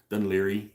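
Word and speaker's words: Dún Laoghaire: more of a suburb of Dublin it's uh dunleary is how you pronounce it um that's where the port's at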